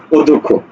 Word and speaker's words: অধ্যক্ষ: এর উচ্চারণ কোনটি দেখো অধ্যক্ষ দেখো ও ধো খ করে কি খো অধ্যক্ষ বুঝছো কোথায় আছে দেখো